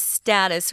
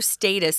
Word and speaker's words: status: get such a profound status or status some people say status most americans say status now there are a